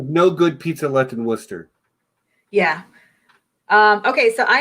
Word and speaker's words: Worcester: of that City yes I know it's not war tester it's Worcester it's Worcester Worcester Mass that's where I'm from